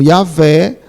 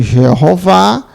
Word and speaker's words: Jeová: que Justamente esse nome pode ser pronunciado como yaveh como Jeová e aveh e português né Jeová então então